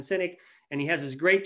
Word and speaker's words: Sinek: you to google him the last name is spelled s-i-n-e-k simon cynic and he has this